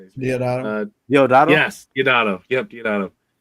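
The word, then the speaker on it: Deodato: Yes, Diodato.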